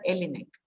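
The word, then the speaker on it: Jelinek: called yellow neck okay j-e-l-i-n-e-k he is pronounced as alienic and elinex says that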